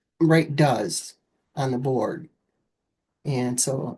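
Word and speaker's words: Duz: soap, you know, and it was called Does. It's spelled D-U-Z, you know, it does everything.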